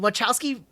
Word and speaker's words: Wachowski: The Wachowski.